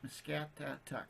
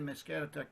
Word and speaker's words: Muscatatuck: I think of a cat, Muscatatuck.